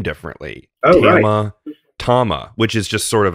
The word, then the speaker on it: Tama: question out of the way how do you pronounce the name and i was told by uh by charlie hayashi tama and you know if you if you know